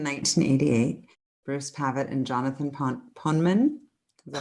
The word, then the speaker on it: Poneman: Bruce Pavitt and Jonathan Poneman. Is that how you say it? Poneman. Poneman.